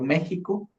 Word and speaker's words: México: Y es por eso que ahora la X se pronuncia como si fuera una G o una J. Por ejemplo, México ahora suena como una G o una J, ¿verdad?